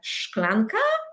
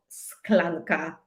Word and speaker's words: szklanka: Do we say szklanka or sklanka?